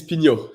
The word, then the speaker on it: Pignault: it but uh oh my last name is pinyo and yes i said it right all right it